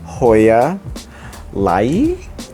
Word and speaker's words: Hoya lyi: I got this Hoya Lyi. It's spelled L-Y-I, and I love it.